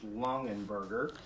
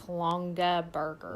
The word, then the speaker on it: Longaberger: And then, if I don't get it wrong, I think it's Longenberger. And you're wrong. It's Longaberger. Longaberger. I always say it wrong.